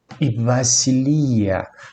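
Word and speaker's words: βασιλεία: as características também o b ele é vocalizado muitas vezes como V ou algo entre o b e o v então de modo que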